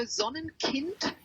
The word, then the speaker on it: Sonnenkind: Yeah, so Sonnenkind, that's how you pronounce it in German, actually means child of the sun.